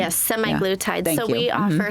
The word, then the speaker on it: semaglutide: So now if you could tell us a little bit about SLIM Therapeutics and semaglutide, if I'm pronouncing that correctly. Yes, semaglutide.